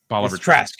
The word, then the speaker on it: Bolivar Trask: And then the whole episode wraps up with them going after and I always get his name wrong. Is it Bolivar Trask? yeah, Bolivar Trask.